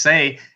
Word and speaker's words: Sais: Plato, when he went to the Sais, S-A-I-S, some people pronounce just say, at the mouth of